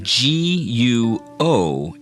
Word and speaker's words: 国: Okay, now let's practice saying G-U-O in the second tone, which is pronounced guo.